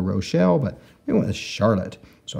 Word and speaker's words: Charlotte: but we went to Charlotte so a big Capital C and an H to give us that sh sound and then a r